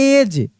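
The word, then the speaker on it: edge: जैसे हम लोग लिखते हैं ई डी जी ई। तो इसको हम एज पढ़ते हैं। क्या पढ़ते हैं? एज। अब यहां पे डी का तो उच्चारण ही नहीं हो रहा है।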